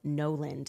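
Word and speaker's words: Gnoland: Before I tell you about the LA case, guys, I first want to tell you about Noland. That is spelled G-N-O-Land.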